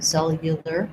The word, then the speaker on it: cellular: So in this letter U, it has a glide. So it's a y sound, cell, y, cellular, cellular. So we can do this either as an oo or a schwa. Because the first syllable is stressed, it's better to try cellular rather than cellular. The U makes that syllable too long and too stressed.